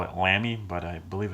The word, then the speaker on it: Lamy: is hola me i like to call it lani but i believe it's pronounced la me and this is a safari has a nice